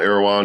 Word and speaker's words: Erewhon: Does he have his own Erewhon smoothie? Is that how you say it?